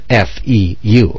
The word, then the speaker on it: feu: there's foo there's fire foo was a play on the french word for fire f-e-u okay that's how the french pronounce fire so feu was dropped